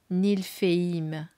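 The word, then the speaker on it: Niflheim: Alors peut-être que la prononciation des royaumes, c'est Vaneim, Alphéim, Jotuneim. Voyez, ça me fait penser à ça. Svartalfeim, Nilfeim. Voilà, du coup, ça vous donne une idée de prononciation aussi.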